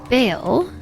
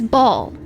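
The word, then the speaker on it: Bhaal: not ever pray to baale the Savage Lord of of M no it is ball it's ball because it rhymes with all you should never wait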